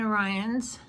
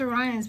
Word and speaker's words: Orion's: or is it Orient's I thought we saw there was Orion's but I think she said Orion is the other day so I may have been saying it wrong for months and there